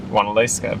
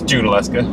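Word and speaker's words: Junaluska: hurt yourself though she I wanted to pronounce it one Alaska because that's it from our area that's what we would be but it's no we talked to the local doctor or local yesterday and it's it's June Alaska so now we go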